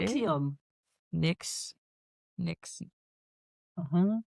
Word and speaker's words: NXIVM: I just realized that I did put the pronunciation. See how you say it? Nexium.